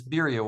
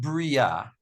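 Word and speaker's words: בריה: Oh, by the way, I was thinking about this birya, why you pronounce it, how you pronounce it. There's a shva underneath the bet, and then there's a dagesh in the bet. So it's not bria.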